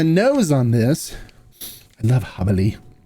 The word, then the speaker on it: Jabali: on this I love hubbelly it's funny my first video that I did I did not knowing how to pronounce this mezcali called it jabaly but it is pronounced habali on the news I